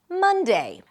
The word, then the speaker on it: Monday: The next is Monday. Monday starts with an M sound, then another cup vowel sound, ma, and an N. Mun. Just like in the word month.